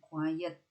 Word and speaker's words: quiet: Ya, ini bacanya quiet dan ingat-ingat tulisan e-nya sebelum t ya. Karena dalam bahasa Inggris ada loh yang tulisannya e-nya sesudah t. Itu nanti bacanya beda lagi, bacanya quiet dan artinya beda.